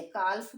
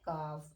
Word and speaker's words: calf: और अगला वर्ड है CALF। तो इसे काल्फ पढ़ते हैं, तो इसका शुद्ध प्रोनाउंसिएशन होता है काफ, इसे हम काल्फ नहीं पढ़ेंगे।